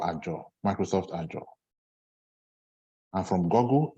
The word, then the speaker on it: Azure: well I think the the more common pronunciation is azure not yeah all right